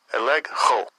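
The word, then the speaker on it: ἐλέγχω: Eleg ho. Eleg ho. Yeah, eleg ho. That's the pronunciation in the Greek for this word reproved.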